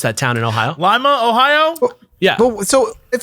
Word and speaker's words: Lima: even though Paul was in Lima, I don't know how to pronounce that town in Ohio. Lima, Ohio?